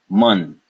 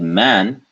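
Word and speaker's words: मन: not Mun Mun Mun now if you said man that is actually incorrect so we want to be careful this is a because there's no symbol there so it is a mun mun mun the mind of the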